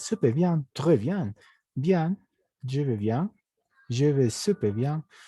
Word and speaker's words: je vais: Simplemente puedes decir je vais, nada más. ¿D'accord? Esta AI se vuelve E, pero la la E española. Je vais, la S no se pronuncia nuevamente.